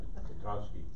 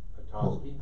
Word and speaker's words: Petoskey: It's P-E-T-O-S-K-E-Y. Pelosi. Sounds like Pelosi. Pelosi. Michigan. Petoskey. Yeah. Say it again. Petoskey.